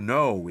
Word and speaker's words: know: estou comendo né saber to know esse k não se pronuncia to know sabendo knowing